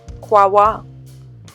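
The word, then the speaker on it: Kouaoua: pronounce it I would say something like like Co but really it is pronounced quwa and it lies on the river qua there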